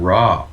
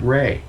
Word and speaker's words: Ra: raw from ancient egypt it's not even raw he pronounces it rey right and he looks